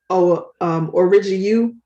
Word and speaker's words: Origu: I always see the label that it was Origu. Am I pronouncing it right? Yeah.